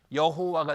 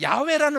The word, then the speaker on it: 야훼: 그러니까 아도나이 발음의 모음을 그대로 올리면 이 발음이 어떻게 되냐면 여호와가 되는 거예요. 이게 여호와. 그러니까 여호와는 틀린 발음이에요? 맞는 발음이에요? 여러분 저도 당황스럽지만 100% 틀린 발음이에요. 그런데 야훼라는 말 들어봤죠?